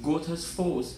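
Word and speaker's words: Goðafoss: Godafoss. Godafoss, more accurately pronounced Gothas Foss, is one of the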